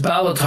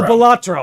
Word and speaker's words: Balatro: Is it pronounced Ballataro or is it Ballatro? Oh, Ballatro. I don't know why I'm saying Ballataro.